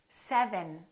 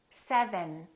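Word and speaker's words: seven: V, v, So first, my lower lip is touching my upper teeth. V, And then my tongue is touching right behind my upper teeth. 7, 7.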